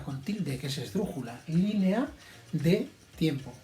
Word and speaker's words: línea: tilde, que es esdrújula, línea de tiempo. Fijaos, línea, estas dos vocales son fuertes, con lo cual van en sílabas distintas, línea, 3 sílabas, el acento está en la primera, esdrújula con tilde.